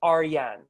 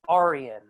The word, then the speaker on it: Arian: you know in a my name in farsi is aryan that's how people should pronounce it yeah but in america